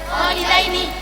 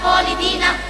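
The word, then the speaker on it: خالدين: Kholidaini, hati-hati bukan kholidina.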